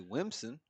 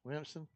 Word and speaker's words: Williamson: Well, you can say it like Hatch and say Wimson. Wimson. Just don't even pronounce Wimson. Yeah, don't even pronounce the L's.